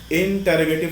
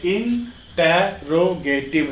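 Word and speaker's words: interrogative: इंटरोगेटिव sentence. इंटरोगेटिव sentence, जी हाँ, ये इंटरोगेटिव है, ना कि इंट्रोगेटिव. प्लीज प्रोनाउंसिएशन पर ध्यान दें, क्योंकि आप जिस एक्सेंट में बोलते हैं वो इफेक्टिव है.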